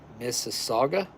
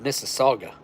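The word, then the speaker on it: Mississauga: Missaga. Is that how it's pronounced? It's like Mississippi, but Missaga, Ontario. M I SS I SS A U G A. Missaga.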